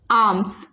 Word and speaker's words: alms: So second word is ALMS, which is आर्म्स। इसको हम पढ़ेंगे आर्म्स। इसको क्या प्रोनाउंस करेंगे? आर्म्स।